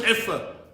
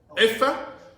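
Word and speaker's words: عفة: Iffa? It's spelled with an ayn, but you would say like I-F-F-A.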